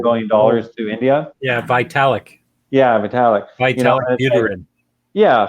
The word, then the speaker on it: Vitalik: with the SHIB, with, well, how do you pronounce his last name? Balatek or something like that? The guy that's the young guy sold $1 billion, donated $1 billion to India. Yeah, Vitalik.